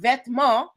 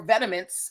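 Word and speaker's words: Vetements: This word vetma or vetiments as as Americans like to pronounce it means clothing in French.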